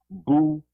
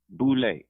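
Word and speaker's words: Boulé: Sigma Pi Phi, and pronounced Boule, like Boo Levin, lay down with your boo, Boule.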